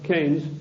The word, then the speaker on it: Keynes: or Keynes he said Keynes was a better word because it arrived with it rhymes with brains and this is a